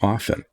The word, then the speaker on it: often: The T is silent in all of these other words. It's not whistle. It's not listen. It's not thistle. Why is it often?